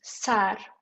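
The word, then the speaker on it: سر: So the first word is sar. Sar, yes, sar is like head. In Persian, we say sar, head. Yes. That one, yes. That's pronounced exactly the same.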